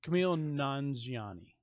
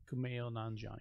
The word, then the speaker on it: Kumail Nanjiani: Camille Nanjiani. Yeah. Kumail Nanjiani.